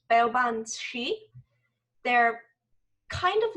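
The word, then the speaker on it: Baobhan sith: So the creatures in that story are also from Celtic mythology, and I believe it's pronounced Beobanshi.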